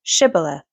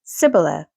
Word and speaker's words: Shibboleth: And if he say, Nay, then said they unto him, Say now, Shibboleth. And he said, Sibboleth, for he could not frame to pronounce it right.